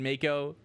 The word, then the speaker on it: Mako: So you had Mako, who pronounced like taco, so we have taco.